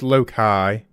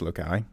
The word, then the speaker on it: Loci: So first thing, it's Loki. I used to go around in the circles, but it's Loki.